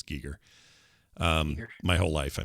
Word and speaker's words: Giger: chat uh an hr geiger image or giger i guess is how we've all been saying it wrong it's giger um my whole life